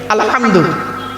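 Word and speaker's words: الحمد: আলহামদু, গলার ভেতর থেকে এটা উচ্চারণ করবেন, আলহামদু।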